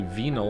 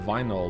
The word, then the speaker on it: vinyl: I don't know why I say venol instead of vinyl like you do.